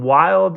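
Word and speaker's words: Wilde: you guys is actually wild I know right this sounds crazy um wild is w i lde e it's a silent e but it's a Danny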